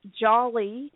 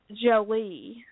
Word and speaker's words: Jolly: She said, it's pronounced like Holly Jolly Christmas.